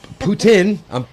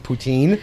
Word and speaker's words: poutine: Poutine. I've been pronouncing it wrong my whole life. Okay, I was saying poutine.